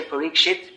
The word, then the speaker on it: Parikshit: the West, say, well, should we say Parikshit? Because that last syllable, it's a vulgar expression. It means it's a vulgar expression for stool.